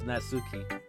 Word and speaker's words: Natsuki: It's Natsuki.